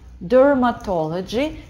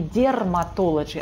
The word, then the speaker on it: dermatology: Dermatology. И здесь я хочу обратить ваше внимание на то, что это не dermatology, а dermatology. Звук «ё».